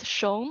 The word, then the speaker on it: Xiong: means bear in Chinese, and it's pronounced Xiong, or if you're feeling French, like the TIO and Xiong in words like visualization.